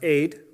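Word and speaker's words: עד: and a D sound are pronounced Aid and it is a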